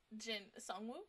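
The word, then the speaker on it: Jinwoo: I am proud of Jin suu suu that's how you say his name um at least he's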